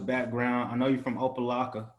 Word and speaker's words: Opelika: I know you're from Opelika, right? Did I say it right? Yep, Opelika.